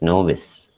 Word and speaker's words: novice: It is pronounced as novice.